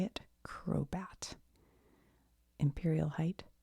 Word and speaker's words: Crobat: Crobat.